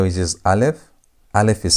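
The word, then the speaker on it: אלף: We have the first letter, which is Aleph. Aleph is silent.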